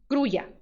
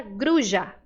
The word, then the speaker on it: grulla: vamos lá a palavra gruia se eu pronunciar com i gruia ó tô fazendo som de i tá vendo gruia gruia se eu fizer o som de J eu diria gruja la gruja eu pronuncio com esse